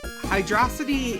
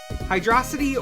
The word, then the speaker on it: Hydrocity: in this stage yeah hydrosity is hydrocity or hydrocity depending on how you want to pronounce it this is a topic of debate among Sonic fans I'd probably say hydrosity yeah I I'd say hydrosity some say Hydro City it doesn't actually matter but it's uh fun